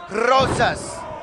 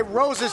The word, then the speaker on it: Rosas: Stop pronouncing his name wrong, it's Rosas.